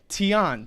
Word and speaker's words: Tian: another term that we need to know is Tian teon t-i-a-n Tian is heaven generally referred to generally